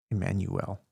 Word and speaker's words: Immanuel: It's actually pronounced with an I, by the way, Immanuel.